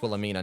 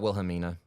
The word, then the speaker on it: Wilhelmina: I've been saying her name wrong. It's Wilhelmina, not Wilhelmina.